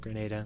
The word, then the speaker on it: Grenada: Yeah, I said Grenada instead of Grenada, my bad. We had a lengthy discussion before we went on air that it is pronounced Grenada, and it 100% is.